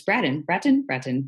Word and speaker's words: Bratton: It's Bratton.